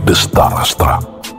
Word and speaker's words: Dretarastra: The throne was then handed over to his older brother Dretarastra , who is sometimes pronounced as Destarastra in one version of the Javanese wayang Sanggit.